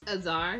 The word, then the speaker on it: Aar: Aar. Yeah, that's how you say it. Aar. Like, huzzah.